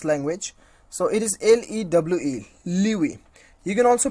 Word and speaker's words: lewe: So it is LEWE, Liwi. You can also pronounce, you can also know the pronunciations of this particular word, clicking on this, on this sound icon.